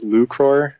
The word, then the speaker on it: 1ucror: it uh so the the handle is actually pronounced lucro and it is a Latin word meaning to